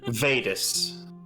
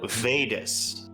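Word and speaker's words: Weides: captain is it though vedas oh no vadis that's spelled with their in german so w-e-d uh would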